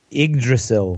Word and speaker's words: Yggdrasil: How do you pronounce the tree, Craig? Yggdrasil.